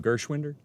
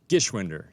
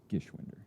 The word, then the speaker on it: Gishwinder: here's chris gershwinder chris how do you say your name gershwinder gishwinder no r gishwinder 52 so there's not